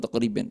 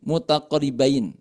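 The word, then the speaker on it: متقاربين: mutaqoribin atau mutaqoribain gitu ya bukan mutaqoribin mutaqoribain betul nah secara baca ya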